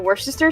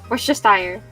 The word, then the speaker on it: Worcestershire: The Worcester sauce. One more time? Worcester, right? One more time. Worcestershire. One more time. Worcestershire.